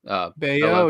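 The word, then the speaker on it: Brayan Bello: Bayo, yes, sir. Brian Bayo. You're on top of the pronunciations today, my dude.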